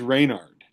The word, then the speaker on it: Reynard: Actually, we did find out that it is Reynard because Reynard is an actual word, means like to backstab or something like that.